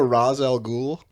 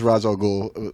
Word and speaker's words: Ra's al Ghul: Do you guys know Ra's al Ghul?